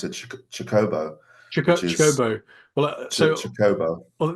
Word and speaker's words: Chocobo: going sometimes I'm like chocoo sometimes I'm like Chocobo and then I've heard someone pronounce it chobo CH chobo well chobo well this is an